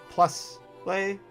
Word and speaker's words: Plusle: hard time with uh plusle and minun. Until somebody explained to me the plus and minus thing. And I was like, oh, that makes total sense.